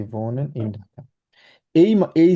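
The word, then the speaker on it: wohnen: Villa ভোনেন।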